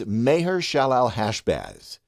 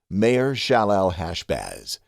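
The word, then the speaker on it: Maher-shalal-hash-baz: Well, the way you say it, and it is the longest name in the Bible, is Mahershalalhashbaz. Mahershalalhashbaz. Mahershalalhashbaz.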